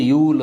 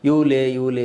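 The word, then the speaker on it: Yule: So George ಯೂಲ್ ಅಂತ ಅವನ್ನ ಕರೀತಾರೆ. ಇಲ್ಲಿ ಕೆಲವರು ಕನ್ನಡ ವಿದ್ಯಾರ್ಥಿಗಳು ಅದನ್ನು ತಪ್ಪಾಗಿ ಉಚ್ಚಾರ ಮಾಡಿ ಯೂಲೆ ಅಂತ ಕರೀತಾರೆ. ನಾನು ಅದನ್ನು ಹೇಳೋದನ್ನು ಕೇಳಿದ್ದೀನಿ, ಸೊ ಅದನ್ನು ಮಿಸ್ಪೆಲ್ ಮಾಡಿಬಿಡಿ. ಯೂಲ್ ಅಂತ ಉಚ್ಚಾರ ಮಾಡಿರಿ, ಯೂಲೇ ಅಲ್ಲ, ಅದು ಅವೆಲ್ಲ ಇಂಗ್ಲೀಷ್ ಪದಗಳು.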